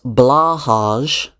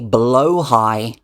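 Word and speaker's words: Blåhaj: posited this idea that blahage, people were telling me in the comments that I was saying it wrong. I was pronouncing it wrong. It's spelt blahage. People say it's supposed to be blow high.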